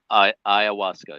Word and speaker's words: ayahuasca: Yeah, let me ask you something, because as you're talking about, how do you pronounce it? Ayahuasca? Ayahuasca, yeah.